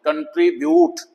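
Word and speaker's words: contribute: कंट्रीब्यूट diffuse huge cube you plus कोसोनेंट plus vowel. You के बाद कोई कों कोसोनेंट वो वाला तो डिस्ट्रीब्यूशन कंप्यूटर एक वर्ड है ड्यूटी तो यह यू की साउंड है।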